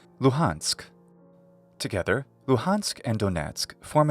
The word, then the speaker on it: Luhansk: is the region lujansk note here this letter sounds pretty close or identical to the English letter h loheinsk thus in English this region of Ukraine and its major city are called luhansk together luhansk and donatsuk